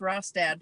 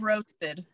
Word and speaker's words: Rostad: that the correct pronunciation it is ross dad instead of roasted she was she